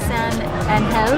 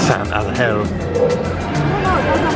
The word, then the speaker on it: San Angel: San Angel Inn. That's how they pronounce it. San Angel. For those of you English-speaking people, it's San Angel.